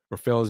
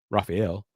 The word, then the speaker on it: Rafael: And yeah, I heard Taylor Rooks say she got Rafael's name. She pronounced it wrong. Raphael. It's Rafael.